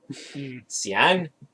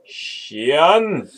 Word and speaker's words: Cian: Cian. Xian. Okay, so Yep, that's how you pronounce my name.